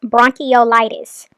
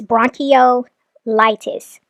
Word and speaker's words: bronchiolitis: it's bronchitis for babies Olivia the way you are supposed to pronounce that is bronchiolitis that's what you're trying to say that is bronchitis found in babies it's bronchol litis okay um so she's